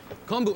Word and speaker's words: kombu: Kombu. It's kombu, Alton. Oh, kombu. I'm sorry. Didn't recognize it. I've only seen that in its dry form. It's quite large. I can't imagine swimming through that. Kombu is one of the ingredients that's usually combined